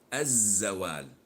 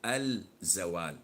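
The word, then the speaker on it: الزوال: Lam sham SIA and we don't pronounce it when we attach it to the word so say as Z well we don't say L Z well as in the word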